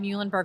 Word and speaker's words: Muhlenberg: for those of you not familiar right outside muhlenberg college did i pronounce that right yeah yep muhlenberg college yeah very everything's popular with the students